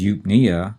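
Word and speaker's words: eupnea: that's spelled e-u-p-n-e-a and notice the stress is on the second syllable and it's on the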